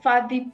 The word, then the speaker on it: Fadi: It was called Fadi Primary School, but it's spelled with a B. But in Kikuyu, we pronounce B as F. So Fadi Primary School.